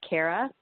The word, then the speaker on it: Kaira: really hard I know so it's Kara I'm just like air in the middle and really gonna like